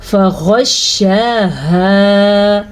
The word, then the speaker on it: فغشاها: ہو گئے ہوں گے۔ تو ہم نے غین کو پر یعنی کہ موٹا پڑھنا ہے۔ کیسے؟ فغشاها۔ ہا کو لمبا کرنا ہے کیونکہ آگے الف مدہ ہے، اور ہا کے تلفظ کا خیال بھی رکھنا ہے۔ پھر ما غشا، یہ کیا ہے؟